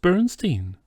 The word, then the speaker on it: Bernstein: my Bernstein Bernstein you're putting me on no it's pronounced Bernstein do you also say